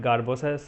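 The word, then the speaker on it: Sgarbossa: last topic garbosa criterias we call it garbosa s is silent so there is elevation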